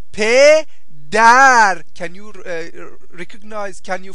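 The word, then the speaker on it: پدر: Mother and mother, mother va pedar.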